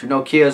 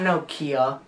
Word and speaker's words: Nokia: deserve it's not no it's not noia it's Nokia Nokia okay Nokia no you say with an accent Nokia Nokia okay then how is it Nokia Nokia like Nokia Nokia